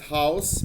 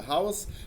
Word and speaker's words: house: وعشان كده كلمة هاوس بتتنطق بالاس مع انها حرف الاس بين اتنين فاول، هي بتنطق هاوس لان الفيرب منها هاوز.